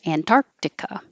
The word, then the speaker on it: Antarctica: an I attain Antarctica this is here to remind you you put your tongue in the K position and but you don't release it Antarctica and the same here